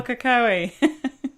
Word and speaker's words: Pukekohe: And I can't even pronounce where you live, Linda. In New Zealand. Near Pukekohe. Near Pukekohe.